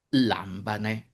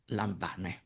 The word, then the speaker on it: λάμβανε: the acute can fall on the third-to-last; and, since it can, it does: λάμβανε (not *λαμβάνε).